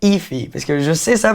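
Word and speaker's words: Aoife: Je peux vous dire Ify. Ouais, on dirait pas, mais c'est Ify.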